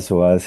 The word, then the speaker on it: psoas: O sea, el psoas nunca en mi vida, además se escribe con P. Para quienes de pronto no saben, se escribe con P. P-S-O-A-S, psoas.